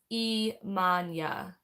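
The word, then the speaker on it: Iemanjá: She uses the Portuguese pronunciation. So it sounds like Imanya. Wait, no, because J's are H's when she says it.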